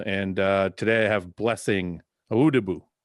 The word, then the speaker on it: Awodibu: It's Awodibu, like my man Fouad just pronounced it. Oh, I messed it up, though. You said Awodibu. I said Awodibu.